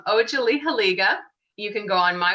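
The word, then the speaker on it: Otsaliheliga: If you want to, everyone, It's Ojalihaliga.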